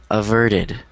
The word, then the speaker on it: averted: so good all righted so the t is a D sound averted yeah exactly it is averted okay yeah good observation